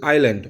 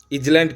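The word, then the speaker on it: island: ঠিক আছে, তাহলে ইংল্যান্ড is only a little আইল্যান্ড অর্থাৎ একটি ছোট্ট দ্বীপ। ইংল্যান্ড হচ্ছে একটা ছোট্ট দ্বীপ, লিটল আইল্যান্ড। এখানে এসটা কিন্তু সাইলেন্ট, নিশ্চয়ই তোমরা জানো। আইল্যান্ড, ইজল্যান্ড কেউ পড়বে না আবার।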